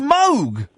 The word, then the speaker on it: Moog: like the mo the moo synthesizer is actually pronounced Moog I know that's because it was his name